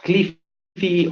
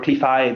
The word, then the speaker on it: Cleafy: All right, so Cleafy or Cleafy, depending on what is your preferred pronunciation, we don't mind, as long as you